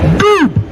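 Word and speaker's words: dubh: Dub, pronounced Doob, or black.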